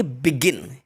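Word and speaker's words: begin: Second example, जैसे कि बिगिन, अब बिगिन नहीं बोलेंगे इसको, इसको बोलेंगे बिगिन। क्या इसका सही प्रोनाउंसिएशन होगा?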